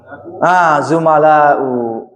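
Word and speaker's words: زُمَلاء: Doma di awalnya, kemudian fatah doma. Silakan. Ini ada patah semuanya. Patah semuanya. Fu'ala'u di mana? Terapkan. Zumala'u.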